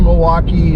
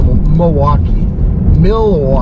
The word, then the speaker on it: Milwaukee: But we, you know, we've got some pretty interesting light shows in the greater Milwaukee, southeastern Wisconsin area.